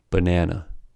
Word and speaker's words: banana: For example, consider the word banana, which has a stress in the second syllable.